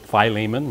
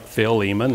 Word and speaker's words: Philemon: turn in your Bibles to Philemon some people pronounce it Philemon but it's I like Phil Eamonn and if you don't know where that's at